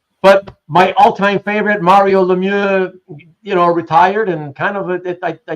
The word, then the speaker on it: Lemieux: The Americans say Lemieux because they're you Americanize everything, but it's really okay. All right. Okay. If you want to say it French, like Quebec, it's Lemieux.